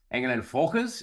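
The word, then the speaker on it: Engel & Völkers: Engel and Volkers is how you would say it if you were German.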